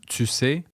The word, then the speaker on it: tu sais: Note the SE pronunciation or affrication of the T. For example, ben c'est pas évident, tu sais.